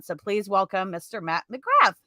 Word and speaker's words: McGrath: If I was a good, Irish boy, I'd say Matt McGrath. That's like the correct way of pronouncing it, I guess. Yeah. But no, I use the, bastardized North American version of McGrath.